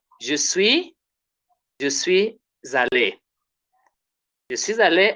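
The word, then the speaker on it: allée: Then feminine is je suis allé. Pronounce the same.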